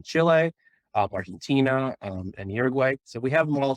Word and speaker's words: Uruguay: mother is from Uruguay about Uruguay I'm told to pronounce it but Uruguay is how many Americans would read it um and I